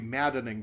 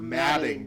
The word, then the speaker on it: madding: It's not the maddening crowd, it's the madding crowd.